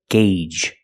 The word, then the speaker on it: gauge: The first G is a hard G sound, followed by the long A, gay, and the second G is the J sound, like in juice and jump. Together, gauge.